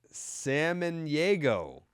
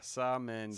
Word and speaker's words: Samaniego: The way you said it is how it's pronounced. Yeah, Samaniego. Samaniego. That's how Samaniego.